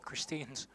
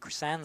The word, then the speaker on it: Chrisan: Bounced awkwardly for Christine's Zephyrs. Actually, it's pronounced Chrisan Zephyrs.